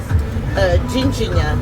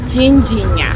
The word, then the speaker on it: Ginja: And how do you pronounce it? Ginja. Ginja.